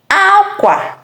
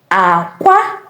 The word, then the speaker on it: akwa: Akwa. Akwa. Egg. Akwa. Egg. Akwa. Bed. Akwa. Egg. Akwa. Bed. Akwa. Cry. Remember, Igbo language is a tonal language.